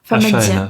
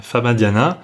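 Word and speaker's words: famadihana: Oh ouais, donc on dit Famadienne, donc ça s'écrit F-A-M-A-D-I. D-I. H-A-N-A. Famadiana. Famadiana.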